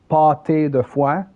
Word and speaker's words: pâté de foie: So for those who want to pronounce it, pâté de foie, paw, like if you would say a cat paw, P-A-W, and tay, T-A-Y. So you say pâté de foie. So D-E-F-W-A-H.